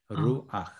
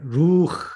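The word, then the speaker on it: רוּחַ: 후음은 그 밑에 또는 그 앞에 아음을 갖는 경향이 있다고 그랬죠.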